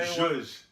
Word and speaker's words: zhuzh: Not Josh shit. Jush. Did I say it right? I feel like the liquor. Say zhuzh. Jush. Zhuzh. Whatever Julio said.